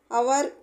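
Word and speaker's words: hour: ఇవి చూసారా ఎగ్జామ్పుల్స్ అన్నమాట అవర్ హానెస్ట్ ఎయిర్ పదాల్లో హెచ్ సైలెంట్ గా ఉంటది హవర్ అనో హానెస్ట్ అనం అన్నమాట అవర్ హానెస్ట్ ఎయిర్ అనే హెచ్ సైలెంట్ గా వాడతాం రెండో అక్షరం అయినా ఓ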